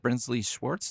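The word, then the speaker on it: Brinsley Schwarz: But, Nick Lowe was part of, is it Brinsley Schwartz?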